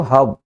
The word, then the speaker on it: herb: लाने के लिए टेक होता ही है, जड़ी बूटी को हब, HERB, जड़ी बूटी को HERB, हब मतलब मैंने बताया था हब, इसमें हर्ब नहीं, क्योंकि वॉविल के बाद आर साइलेंट रहता है, बताया था मैंने आपको।